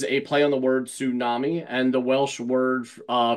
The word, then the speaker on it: Sŵnami: I'm guessing not much so tsunami is how you pronounce the name as I mentioned earlier